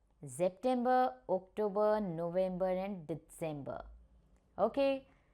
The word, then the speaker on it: September: It has the same spelling but we pronounce it differently. It is September.